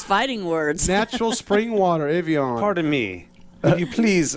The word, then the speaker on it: Evian: Evian.